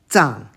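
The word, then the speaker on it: 藏: This next one can be pronounced Tsang, second tone, or Zang, as in Xizang, Tibet.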